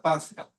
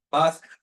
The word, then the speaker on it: Pascha: Se escribe con CH, pero es como una J gruesa, Pasca. ¿Ok? Pasca, Pasca.